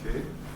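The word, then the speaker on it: 景: Et kei, c'est le même kei, prononcé à la japonaise.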